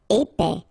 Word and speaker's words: épais: Épais, final S not pronounced, E together, épais, épais.